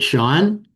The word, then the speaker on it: Sean: Is it Sean? Yes, that's how my name is pronounced.